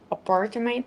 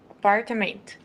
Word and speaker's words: apartment: So, Mike's new apartment is very big. What's the Mike's new what? Apartate. So, because of in in Portuguese it's right, five syllables. In English, it's apartment.